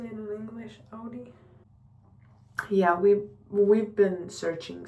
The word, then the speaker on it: Audi: Um, Mercedes, um, Volvo, BMW, like Audi. Is that how you say it in English? Audi.